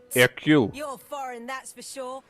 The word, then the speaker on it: Hercule: Hercule.